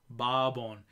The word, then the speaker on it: Bourbon: Barbon.